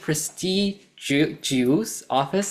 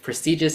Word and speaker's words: prestigious: answer that later but prestigious you said prestig off I'm not sure if that's exactly what you meant but prestigious is the pronunciation that I'm used to so I'm not sure